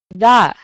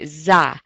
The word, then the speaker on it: the: And just be a little careful with this word. It's a simple word, but it's very easy in conversation to say za. So just be really conscious of that, and just make sure you always say that th sound.